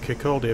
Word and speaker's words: Kirkcaldy: Same deal with Kirkcaldy, apparently. I'm still pronouncing the L.